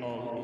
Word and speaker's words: Hull: And you can tell he's not from Hull, because the H in Hull is silent, and Jason very politely referred to it as Hull.